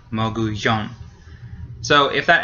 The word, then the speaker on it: mogollón: It has an accent mark. So it's the last one. Mogollón.